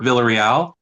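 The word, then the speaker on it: Villarreal: My name is Villal. Last name is spelled V I L L A R R E A L.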